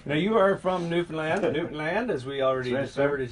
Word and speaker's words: Newfoundland: Newfoundland, as we already discovered, is how you pronounce it. Not Newfoundland. No, it's Newfoundland, area.